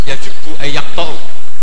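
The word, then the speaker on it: يجبّ: Al islamu yajubu maq itu bacanya bukan yajibu tapi apa yajubu lah kalau pas ini kamu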